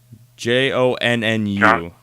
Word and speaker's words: Jonnu: Jonnu.